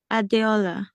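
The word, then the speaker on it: Adeola: e o l a so how do you pronounce it adola adola adola how are you I'm okay so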